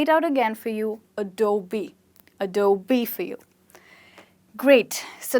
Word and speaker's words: Adobe: Is it called Adobe? Most of us do call it like that, when it's actually called Adobe. Right? So this is B, the B that you know, and that's how you can remember it, by remembering the B. So you call it Adobe and not Adobe or Adobe or anything like that.